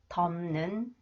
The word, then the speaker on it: 덮는: Okay, the final consonants 피읍 or 피읍 combines with 니은, they are pronounced 미음 sound. 10년, 10년, 덮는, 덮는.